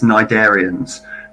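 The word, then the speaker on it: cnidarians: only read it but i think it's nidarian's and the sea at the beginning is is uh is silent but they found deep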